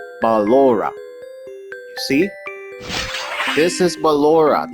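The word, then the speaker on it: Ballora: have Aura okay and this is how you say balora balora you see this is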